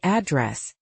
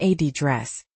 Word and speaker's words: address: It's usually address, stressed on the second syllable. And in British English? Often address, stressed on the first syllable.